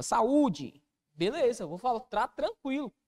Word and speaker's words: saúde: dona paroxítona até porque quando você para o saúde a sílaba tônica recai aqui ó na penúltima sílaba saúde Beleza vou falar tá